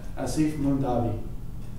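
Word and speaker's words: Aasif Mandvi: in background or, you know, how do you pronounce that? Asif Mundavi. Mandavi. Yeah, Asif Mundavi.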